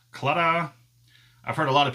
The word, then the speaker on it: Claddagh: It's kind of like ta-da, except Claddagh.